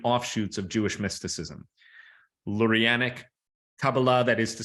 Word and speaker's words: Kabbalah: known as Kabbalah and yes you can call it Kabbalah but it's Kabbalah Hebrew is a language where if you're pronouncing it correctly the last syllable is typically the one to be to dominate Kabbalah I am not sure